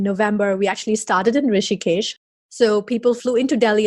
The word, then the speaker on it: Rishikesh: And also up in that area, you had that town, the yoga town, I'm going to mispronounce, is Rishikesh, or how do you say that? Yes, Rishikesh.